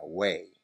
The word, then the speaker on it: weigh: Por ejemplo, weigh, pesar, tiene GH que no se pronuncia, weigh.